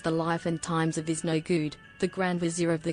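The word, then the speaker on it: Iznogoud: Is no good, pronounced his/is no good with a French accent, is a French comic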